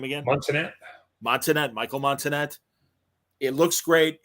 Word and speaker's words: Montenat: Montenat, Michael Montenat.